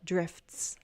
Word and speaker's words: drifts: I'm pretty much dropping the T here because it is difficult to say FT and S together. I can try drifts. But in fast speech, we'd actually might drop that T.